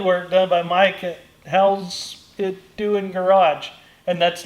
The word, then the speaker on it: Howe: Which and I do think it's clever because Mike's last name is spelled Howe. Correct. So it's and people try to call it Howie or anything else but How.